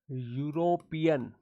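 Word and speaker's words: European: यूरोपियन ऐसे पढ़ा जाता है। इसका प्रोनाउंसिएशन ऐसे होता है। इसको यू से पढ़ा जाता है।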